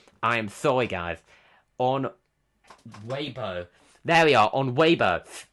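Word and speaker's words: Weibo: on wayo on I need to fix my pronunciation here I am sorry guys on waybo there we are on way um and yes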